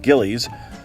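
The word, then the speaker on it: Gilles: Frozen custard, sold at places such as Gillis's, or as I was taught to pronounce it as a kid, Gillies, is similar to ice cream, but made with eggs in addition to cream and sugar.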